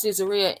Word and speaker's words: Caesarea: The way we pronounce Caesarea in English today is Caesarea.